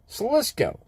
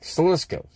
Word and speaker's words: Salisko: Because I think the way I say it, Salisko. It's like Salisko.